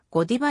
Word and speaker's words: ゴディバ: 台場ぷ人の英語の発音はお台場に近いがフランス語での発音はゴディバに近いこのためベルギーのチョコレートメーカーとブランド名として日本語での表記と発音は創業の地であるベルギーでの発音をもとにしてゴディバとしている 1926 年ジョセフド